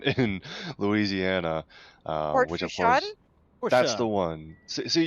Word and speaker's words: Fourchon: I had to get some lessons from some Cajuns, but that one's Ah, Fourchon.